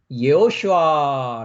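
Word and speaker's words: יְהוֹשֻׁעַ: 이분이 실제이 그래서 예수라는 이름은 히브리어 301번을 가면 예호슈아 라는이 발음입니다 슈아는 히브리 발음이 예수스 이것은 헬라어 발음입니다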